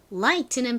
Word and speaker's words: light: 소리는 t 소리가 나죠 그런데이 t의 앞에 허깨비 gh가 붙어 있어요 이렇게 t의 앞에 gh가 올 경우 대체로이 gh는 소리가 나지 않습니다 발음 한번 따라해 볼게요 light